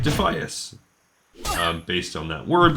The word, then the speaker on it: Defias: you the pronoun in in Latin this would be pronounced as defus okay so if you